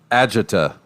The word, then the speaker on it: agita: heading there right now agita according to according to merriam-webster i suppose like like agitation that makes sense so